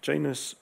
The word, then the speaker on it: Janus: This is the Roman deity Janus, or you may pronounce Janus in different ways. In English, it's Janus, who had two faces.